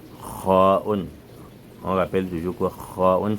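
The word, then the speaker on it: خاء: On rappelle toujours que kha'un se prononce au fond de la voix, ce n'est pas kha'un au milieu de la langue.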